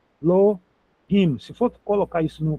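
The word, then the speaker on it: אלהים: Portanto, duas sílabas, elo rim. Pro hebraico é isso. Se fosse em português, a gente ia achar três sílabas aqui, mas no hebraico a regra é essa. El him aqui o re. Lembra que o re é aquele h fraquinho igual do inglês do hot dog, house, home, Hollywood, né?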